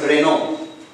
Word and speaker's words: Renault: So coming here, the 19th one, it's Renault, a French company, a French automobile company, R-E-N-A-U-L-T. As it has been wrongly pronounced as Renault, it's not Renault, it's Renault.